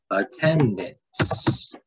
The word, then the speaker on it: attendance: and we type in attendance. Spell it right. Attendance. Right. Here we go. Attendance. And we see that there are three syllables, attendance, and the second syllable receives the accent mark, 10.